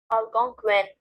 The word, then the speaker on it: Algonquin: here and we're going to see how to pronounce it algonquin a god queen okay so it mentions that